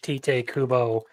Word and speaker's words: Tite Kubo: not like a huge Tite Kubo. That's how you pronounce the name, by the way, because that's Japanese, you fucking twat.